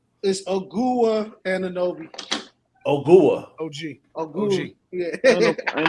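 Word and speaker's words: Ogugua: I'll tell you his name right now because I pronounced it earlier today. It's Ogua Anunoby.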